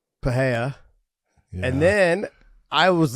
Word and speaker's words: Pereira: It's like, but his last name is Pereira. All right. Just say Ray in the middle.